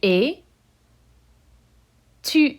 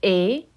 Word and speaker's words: est: And il, elle, on, with A, the S and the T are silent.